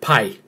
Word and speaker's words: pi: And then I realized that, you know, they were actually mispronouncing what is the word P. That is the actual name of the letter P. That is the actual name of the letter P. not pie.